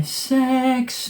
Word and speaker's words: CeX: c ex is or if you want to say it's SE indeed as they do sex cuz that's how they say it on the advert they say sex but it's a c it's an e it's an X it's a c not an S it's a c but they still call it